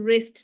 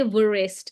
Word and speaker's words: wrist: we got a word wrist now all right so for wrist also you don't say vist it's it's so WR says the sound and then I